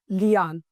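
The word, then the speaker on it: lierne: तो जैसे कि आपने नोबिता अगर देखा होगा तो नोबिता में उसका नाम है जियान, तो बस आपको ऐसे ही पढ़ना है इसको, लियान.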